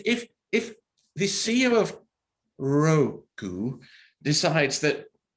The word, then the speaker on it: Roku: really should be called rock you shouldn't it i mean why is roku pronounced roku as opposed to a rock you know i'd go with